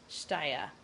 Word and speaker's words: Shtayyeh: represented by Chief Negotiator Saib Erekat and Mohammed Shtaya. I'm sure I butchered that last name.